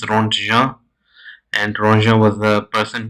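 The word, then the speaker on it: Röntgen: This is pronounced Ronja, and Ronja was the person who actually discovered uh, X-rays.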